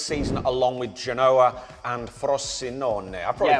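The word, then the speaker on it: Frosinone: going down this season along with Genoa and frost sinone I probably pronounce that wrong you got it right over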